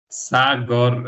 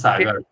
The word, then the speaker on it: Sagor: That's like Indian say, Sagar. yeah, same here. Sagor. We pronounce it Sagor.